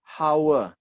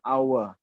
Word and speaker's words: hour: you say a word you don't say hower ya because I wanita2 Well that's why you say our You don't say Hai